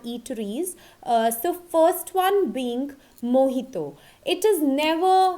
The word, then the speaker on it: mojito: t oh but exact pronunciation is mojito I have seen so many people around me calling it as mijito but it is mojito okay so from the